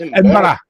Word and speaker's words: Edinburgh: Edinburgh. Edinburgh. There we go. Why pronounce letters?